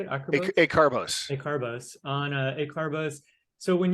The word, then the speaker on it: Acarbose: Acarbose.